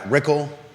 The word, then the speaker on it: Rykal: Ann Mallek and Brad Rykal, rhymes with pickle, are running in the Whitehall district of the Albemarle County Board of Supervisors race.